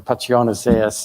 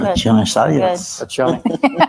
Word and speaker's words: Pacione-Zayas: And to Senator Lightford and Senator Pacione-Zayas, if I mispronounced it, Pacione should be Italian, right? With a C-I-Ch. Right. Pacione-Zayas. Pacione-Zayas.